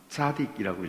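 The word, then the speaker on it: צדיק: 근데 의롭다, 옳다 하는 말이 히브리 말로는 이게 발음이 차는 아니고 싸하고 가까운데 사딕이라고 읽을 수 있어요.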